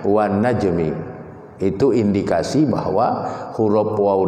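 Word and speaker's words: وَالنَّجْمِ: Ya, jadi tidak ada ahli bahasa Arab yang membaca wan najmu atau wan najma, enggak ada. Pasti membacanya wan najmi.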